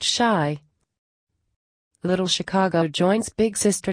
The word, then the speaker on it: Chi: Chicago West to be known as chi pronounced shy little Chicago joints big sister north and brother st.